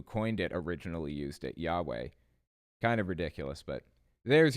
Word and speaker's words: Yahweh: what the Tetragrammaton translates to the name is pronounced Yahweh not Jehovah but they'll claim that Jehovah is the modern